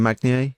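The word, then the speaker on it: Magnier: Magni? How do you say his name? Mani, yeah.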